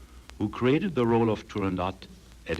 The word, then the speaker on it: Turandot: In addition to Turandot, which is pronounced the way I pronounce it, and also it was pronounced by Puccini and Toscanini, so it's really Turandot, not Turandot.